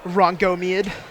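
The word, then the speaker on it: Rhongomyniad: That's a It's pronounced Rangomeid. Is it really? Did you look it up? I looked it up earlier. Rangomeid. Rangomeid.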